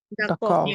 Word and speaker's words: d'accord: মানে ওরা বলে ওকে আচ্ছা এটা কি ডাকক হবে নাকি ডাকক D'accord. উচ্চারণ হবে না Oui, d'accord. ই সাইলেন্ট ডাকক এভাবে বলে হ্যাঁ ডাকক ওকে ডাকক মিন্স বলতে পারেন Oui, ওকে d'accord.